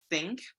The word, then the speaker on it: think: Think, T-nya sama kayak nomor 3, 3, think. Kalau barang, think, medok.